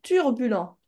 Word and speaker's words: turbulent: C'est pas turbulent, c'est turbulent. Turbulent.